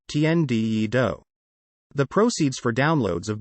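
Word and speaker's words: Tian Di Yi Dou: singer jae chow's single the heaven and earth challenge tienda yee doe pronounced tnde do the proceeds for downloads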